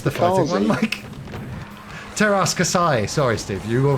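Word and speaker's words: Teräs Käsi: Best Star Wars game though, obviously Masters of the Terras Kazi. Is that a fighting game, isn't it? Yes, the fighting Kazi. one, Mike. Teras Kasai.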